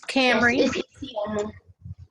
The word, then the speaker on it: Cambrie: uh first young lady how do you pronounce your name so i can say it correctly it's cambrie um okay i know camry what was what was